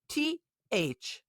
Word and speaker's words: thorough: THOROUGH.